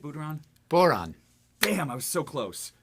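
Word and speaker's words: bodhrán: Boron. Damn, I was so close. The Just boron, think. the drum. Just think. this- Moron. Boring? Boron. Borat? Boron? It's like moron, but with a B.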